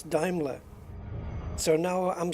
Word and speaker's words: Daimler: it's actually diimler cuz that's how the Germans pronounce it and it's a German company and blah blah blah and it's Daimler so now I'm saying